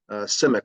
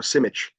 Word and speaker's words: Simic: Lori, the United States, Charles uh Simick or Simich is his is his Serbian name pronunciation.